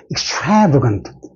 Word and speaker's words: extravagant: 유명한, 이렇게 형용사, 명사, 몇 번째, 세모로 해보씩, 1, 2, 3 해서 여기에 액센트 떨어집니다. 그래서 발음이 extravagant, 이랍니다. X는 잘 안 들리고, extravagant.